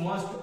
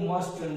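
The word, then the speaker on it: mustn't: ಇದೇ ಸ್ಟ್ರಕ್ಚರ್ ಏನಾಗುತ್ತೆ, ಯು ಮಸ್ಟ್ ಒಬೇ your parents, you ಮಸ್ಟ್ ನಾಟ್ ಒಬೇ your parents, ಮಸ್ಟ್ ಯು ಒಬೇ your parents, ಮಸಂಟ್ ಎನ್ ಯು ಎಸ್ ಟಿ ಎನ್ ಅಪಾಸ್ಟ್ರೋಫಿ ಟಿ ಅದರ ಉಚ್ಚಾರ ಮಸಂಟ್, ಮಸಂಟ್ ಯು ಒಬೇ your parents.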